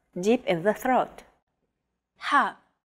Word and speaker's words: ح: Ha. This sound is pronounced very deep in the throat.